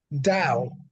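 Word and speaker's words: Tao: found within this and T is actually T Au oh sorry ta o which is Da is phonetically da and obviously the da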